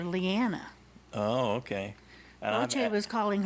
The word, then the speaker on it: Liana: That's the third pronunciation for Liana. Liana. I've been calling her Liana. Yep. And she called her Leona. Yep. But in the show, they called her Leanna.